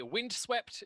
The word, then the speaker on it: Vindswept: Our music is by Windswept. It is spelled Vindswept.